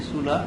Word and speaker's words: Sulla: So Sulla, actually the pronunciation should be Sulla, but the letter Y was often used to indicate the U sound. Sulla was a Roman dictator.